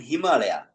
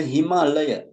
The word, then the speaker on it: Himalaya: what is the Mount Himalaya Himalaya actually not himala right himala mean it is the wrong pronunciation and uh it is the Himalaya right Himalaya Mount Himalaya